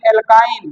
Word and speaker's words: alkyne: और एल्काइन है तो लास्ट में हम आइन जोड़ते हैं, ALKYNE, यानी लास्ट में YNE जोड़ते हैं, एल्काइन।